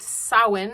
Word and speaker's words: Samhain: Today is the Day of the Dead, All Saints Day, the Feast of All Hallows, also Samhain, which you may read as Samhain. Samhain. It's pronounced Samhain.